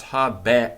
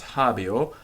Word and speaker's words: habeo: bear or its prowess hobby or because that air because of where it's positioned it becomes the Roman Ramirez tell us it's of becomes a bit thinner more like an I sound and in fact we